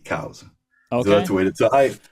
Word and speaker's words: Coues: And he writes C-O-W-Z, cows.